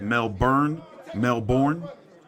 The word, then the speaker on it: Melbourne: Melbourne.